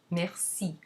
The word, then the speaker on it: merci: If a C is followed by E or I, it's always pronounced S. And so you have, for example, ce or merci. The C in merci never takes a cedilla because it's automatically S because of the following I.